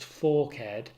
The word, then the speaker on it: forked: ignore that but um when there is a grave accent so that forked becomes pronounced forkhead it's just a means of pronunciation to make the ten syllable pentameter work should you be interested